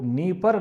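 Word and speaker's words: Dnieper: यहां पे डी नीपर लिखा हुआ डी साइलेंट है नीपर नदी यह कीव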